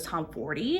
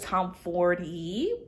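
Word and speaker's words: Tomforde: right move by Liz Tom 40 I'm going to say Liz Tom Ford but I think it's Liz Tom fory is a story of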